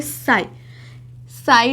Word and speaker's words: psi: जिसको हम प्रोनाउंस करेंगे साई डब्ल्यू बोलते हैं इसको, जिसकी स्पेलिंग है PSI, जिसमें P साइलेंट है।